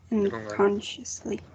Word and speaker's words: unconsciously: Unconsciously. Okay, in the second one? Conscious. Because conscious is also the stress is in the first syllable.